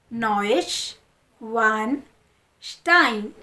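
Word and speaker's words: Neuschwanstein: बड़ा कासल वहां पर है यह रहा इसको प्रोनाउंस करते हैं साथ में नश वान स्टाइन नोश वान स्टाइन नोश वान स्टाइन नवा टाइन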